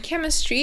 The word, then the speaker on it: chemistry: bit different um so it's not a ch sound but instead of k sound so it's chemistry are